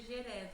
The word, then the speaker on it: GERES: A gente pronuncia GERES, assim, GERES.